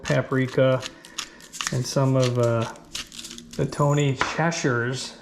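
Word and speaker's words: Tony Chachere's: and some of the Tony Cheshires, as my friends in Louisiana told me is the right way to pronounce it, but I still could be hacking it up.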